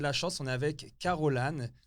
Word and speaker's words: Carole Anne: On a de la chance, on est avec Caroline, c'est comme ça qu'on prononce, oui, Caroline.